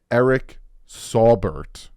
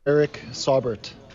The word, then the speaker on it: Saubert: I I again I'm dyslexic so I read phonetically Eric sawbert is what I would call him but his name is pronounced Eric saubert oh it's like all right saubert Zack sealer